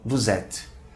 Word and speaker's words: vous êtes: Observe a pronúncia da palavra vous êtes. Vamos ligar duas palavras e o som vai ficar vous êtes.